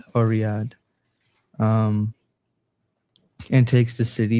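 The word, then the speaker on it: Riyadh: Iben Saud uh Iben Saud uh leads 40 men over the walls of Riida Riyad or Riyad um and takes the city beginning the third Saudi state.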